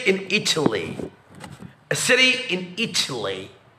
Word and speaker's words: Italy: A city in Italy. وهنا قلنا it مش Italy لأن هنا التي واقعة في stress syllable يقولوا لها تي مش دي.